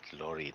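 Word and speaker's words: Laurie: just wanted you to say that word Lori not Laura Laura Lori Lori youi oh my god when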